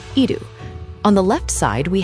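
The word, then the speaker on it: 射る: The kanji for shoot, pronounced idu.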